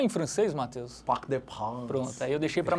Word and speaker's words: Parc des Princes: Parc des Princes.